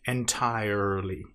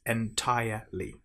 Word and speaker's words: entirely: Now make sure you don't pronounce the R in entire. It's not entirely. It's entirely.